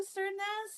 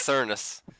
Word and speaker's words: Cernis: Cern, that's how I always pictured it in my head. What is it? Oh, it's Cernis.